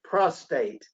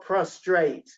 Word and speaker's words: prostate: and affection jim is make sure you re use you call it prostate and not prostrate okay i'm sorry you